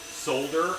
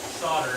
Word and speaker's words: solder: weird because i say solder i pronounce the l and most most people